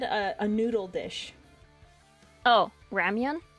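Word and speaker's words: ramyun: It's It's basically their version of ramen. How do you spell that? R A M Y U N. Ramian. I thought you were just saying ramen wrong and I was going to make fun of you. No. Ramian.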